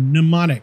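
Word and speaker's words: mnemonic: lot true now pneumonic that's that word pneumonic the m is silent there was a keano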